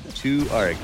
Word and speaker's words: 2ARC: 2ARC.